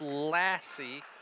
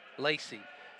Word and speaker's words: Lacey: I believe that's Lassie. Lacey. All right, it's pronounced Lacey.